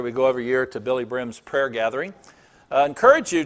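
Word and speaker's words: Billye Brim: It's Billy Brim, B-I-L-L-Y-E, B-R-I-M is how you spell it. It's not Billy Graham, it's Billy Brim.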